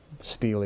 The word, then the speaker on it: stele: The inventory, I call it the Stele. Stele is fine. It's S-T-E-L-E. You could pronounce it either way.